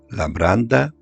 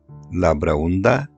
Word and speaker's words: Labraunda: Labraunda, Labrayndus, Labraynda o Lambraunda...? Sí, este centro de culto sagrado tiene diferentes nombres, pero todos son correctos. El nombre del santuario se escribe Labraunda, pero las grafías correctas son Labranda, Lambraunda y Labraynda.